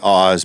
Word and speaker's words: Oz: It looks like Oz. Everybody would say Oz, but it's Oz. We pronounce it Oz.